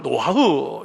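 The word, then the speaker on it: נֹחַ: 우리가 번역을 노아라고 해서 그렇지, 원래는, 원래 발음은 노하흐, 이렇게 발음이 그렇게 되죠. 이 노하흐라는 이 단어는요, 강림하다 이런 뜻입니다.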